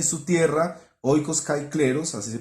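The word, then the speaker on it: οἶκος καὶ κλῆρος: Su mujer y sus hijos estarán a salvo en el futuro, y su casa y su tierra, oikos kai kleros, así se pronuncia, casa y tierra, oikos kai kleros en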